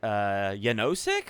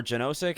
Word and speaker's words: Janosik: And then we also got Janosik or Janosik, however, depending on how you pronounce it. It is Slavic, so I kind of like Janosik better.